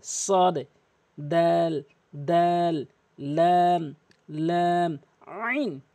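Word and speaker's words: ع: দাল দাল লাম লাম আইন এই হরফটি মারাত্মক লেভেলের ভুল করে আইন বলে আইন চাপ দিয়ে বলতে হবে আলামিন বলতে হবে আলামিন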